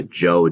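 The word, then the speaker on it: Zhou: be specifically looking at the Shang Dynasty the Jo dynasty the Qin Dynasty and the Han Dynasty that's the way you pronounce those different dynasties this is Qin kind of like China and the Jo the Shang and the Han dynasties and you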